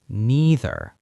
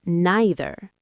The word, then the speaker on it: neither: Just like either, you can pronounce neither in two ways. Some people say neither. And some people say neither.